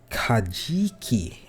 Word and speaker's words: Kajiki: Well, that typhoon that is typhoon Kajiki. That is the pronunciation.